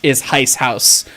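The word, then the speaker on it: Heizhaus: We're specifically doing the joke spelling because it's apparently the term that Austrians use for steam locomotives, like workshop or roundhouse, is HyceHaus. Like pronounced that way, not spelled exactly that way, but we're having a wee bit of fun with that.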